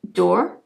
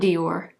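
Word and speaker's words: D'or: of Shimmer and then this is door Dior not Dior door it's D apostrophe o r I'm sorry I know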